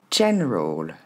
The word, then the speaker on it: general: Deuxème mot, chen roll. Chenroll. Vous le prononcerez un peu mieux avec seulement deux syllabes comme je le propose ici.